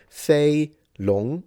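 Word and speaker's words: 飛龍: In Mandarin, you would read it Fei long. It's first tone, second tone.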